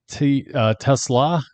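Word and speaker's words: TeSlaa: How are they pronouncing that guy's name? Tesla.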